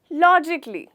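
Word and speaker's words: logically: लॉजिकली। यहाँ पर भी हमारा जो ये लेटर ए है वो साइलेंट हो जाता है, लेकिन दोस्तों ध्यान रखिएगा कि लिखते वक्त आपको स्पेलिंग की मिस्टेक नहीं करनी, ओके?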